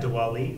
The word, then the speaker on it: Diwali: Diwali. Diwali. D-W-A-L-I. Not even close, but yeah, same thing. Something. That's how it's pronounced. Yes, it's pronounced Diwali.